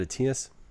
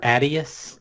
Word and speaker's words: Atias: Is it Atias? Actually, you're one of the few people that pronounce it properly. All right. How do people usually say it? Atias or Adius.